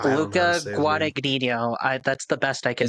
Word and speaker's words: Guadagnino: Guadagnino? Luca Guadagnino. That's the best I can do. I don't know if there's like a silent G in there, if it's like a lasagna type of Italian name, but it's like Luca Fettuccine Alfredo.